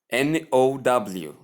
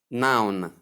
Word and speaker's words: now: We come to the next one, which is N-O-W. We pronounce it as now. Now. Now. Not noun, as most Nigerians do.